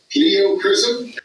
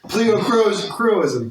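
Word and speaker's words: pleochroism: Kyle showed, and I'm probably going to pronounce this wrong as I generally do. Kyle showed pleocrism. Pleocroism, yeah.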